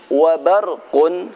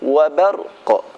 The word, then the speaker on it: وبرق: Wabarqun, ketika berhenti wabarqa, bukan wabarq namun wabarqa.